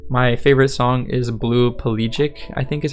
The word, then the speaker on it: pelagic: My favorite song is Blue Pelagic, I think is how you say it.